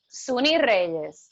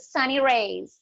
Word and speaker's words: Sunny Reyes: Suni Reyes. Suni Reyes, okay. Or how they pronounce it, Sunny Reyes.